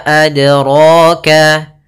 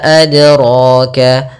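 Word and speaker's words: أَدْرَاكَ: Nah, kemudian untuk pantulannya maaf ada kesalahan yang terjadi dalam melafalkan adroka yang pertama tidak mantul. Tidak mantul itu salah. Sehingga misalkan wama adroka ini salah. Kemudian yang kedua menambahkan hamzah misalkan wama adroka adroka ini kurang tepat juga karena dia menambahkan hamzah di dalam huruf dalnya.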